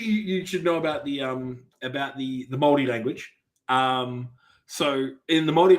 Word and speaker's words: Māori: So it's not Maori. It's Māori. So you're saying the word that I would say pronounced as Maori in English?